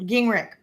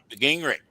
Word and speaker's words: Gingerich: how do you pronounce it correctly? I've always said Gingerich. Is that true? Gingerich. Mm-hmm. Gingerich.